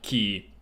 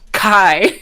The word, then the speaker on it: Chi: But it's pronounced like key. You'll also sometimes pronounced Kai.